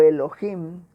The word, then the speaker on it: Elohim: Aquí les voy a mencionar una palabrita hebrea que es Elohim o Elohim, como algunos lo pronuncian, y se refiere a Dios en forma plural.